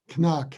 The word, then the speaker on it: Knaack: of all how is what's the correct pronunciation of your last name knock we are pronouncing the k okay thank you thank